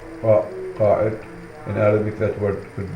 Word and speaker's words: Qa'id: Every large caravan was headed by Qa'id, pronounced Qa'id.